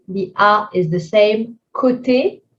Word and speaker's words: côté: Côté, O accent circonflexe is just an O, nothing to change.